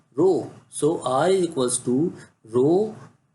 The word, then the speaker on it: rho: come dear that constant we pronounce this as if throw it as a row so I equal to